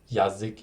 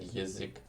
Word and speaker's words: язык: which isn't хорошо, or like the A then turning into like E or like E when it's unstressed, like in язык, which isn't yazik, even though it's spelled with ya, but it's like язык.